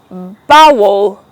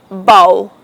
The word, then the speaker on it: bowl: It is often pronounced as bowl, but please don't use that. It is pronounced bowl.